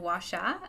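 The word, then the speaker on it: Huaxia: Empress Wu Zen set in the nation of washa a futuristic reinterpretation of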